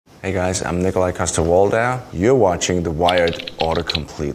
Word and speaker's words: Nikolaj Coster-Waldau: you pronounce Nikolaj coster-waldau well Nikolaj coster-waldau when I'm here when I'm in Denmark it would be Nikolaj coster-waldau see how much does